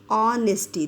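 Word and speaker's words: honesty: ऑनेस्टी देखिए एच यहां silent हो जाता है।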